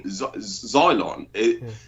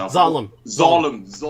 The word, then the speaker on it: Zalem: reasylum themselves up in Xylon. Sorry, is that how you pronounce it? Zalem. Just think Jerusalem. Just think Jerusalem. The last two syllables.